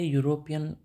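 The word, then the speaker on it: European: ए यूरोपियन country. इयू देख के आपको घबराना नहीं है। इयू का क्या प्रोनाउंस है? यू वाला। इसका जो है ट्रांसक्रिप्शन है। यह कसोनेंट साउंड है और कंसोनेंट साउंड के साथ क्या लगता है?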